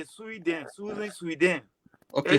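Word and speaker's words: Suidan: Her last name is Sweden.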